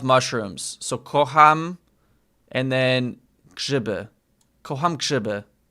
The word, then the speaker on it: grzyby: And then mushrooms, grzyby.